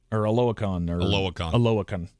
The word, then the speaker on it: Oluokun: And then this past year with Green Bay, it's just, I look at him much like I look at Foye Oluokun Aloakon. Yeah, that's how you say it.